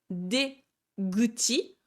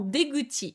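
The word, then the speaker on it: 出口: C'est pareil pour, par exemple, la sortie du métro, c'est Deguchi, donc D pour la sortie et Kuchi pour la bouche de sortie, ça se transforme en Deguchi et non pas Dekuchi, ça ne se dira pas.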